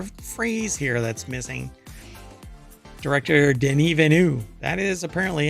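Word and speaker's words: Villeneuve: there's an entire phrase here that's missing director denu that is apparently how you pronounce his name or he pronounces his name or you're supposed to pronounce his name not Dennis Villano didn't evenu um believes Blade Runner 2049 could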